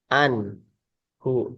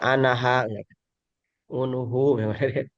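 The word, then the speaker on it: عنه: tetap seperti itu sehingga dibacanya tetap an anhu. Jadi ketika ada bentuk seperti ini ya langsung aja baca anhu begitu tidak boleh baca anaha unuhu an ya.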